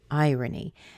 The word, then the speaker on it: irony: of a normal word it begins with a long I so it's like this I and then the oh in here is reduced to a schwa so we get R uh and then we have our little knee at the end now it doesn't have a schwa but it has kind of this baby e sound knee irony irony but if you look